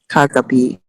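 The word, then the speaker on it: kagabi: then last night ashley last night kagapi yes the accent is the last syllable you can see the accent there on the muscle last night so we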